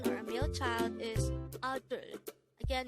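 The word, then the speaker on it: 아들: The Korean term for a son or a male child is adul. Again, it's adul. This is pronounced as a two-syllable word. The first syllable is a, the second syllable is dul.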